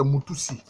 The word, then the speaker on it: Moutoussi: La bonne prononciation, c'est Moutoussi.